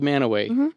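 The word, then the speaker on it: Mantua: M A N T U A. And it's called Manaway. So there's a silent T in there.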